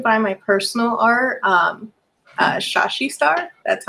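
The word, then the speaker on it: Shashe Star: socials you can find my personal art um shashi star that's how it's pronounced it's s-h-a-s-h-e s-t-a-r so that's for my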